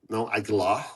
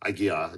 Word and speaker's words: Aguiar: But in my last name, also they pronounce with L, Aguilar instead of Aguiar. And sometimes I just want to make sure that there's no L. It's just Aguiar, not Aguilar, because that's what really not